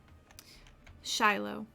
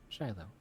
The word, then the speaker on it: Shiloh: Shiloh. Shiloh.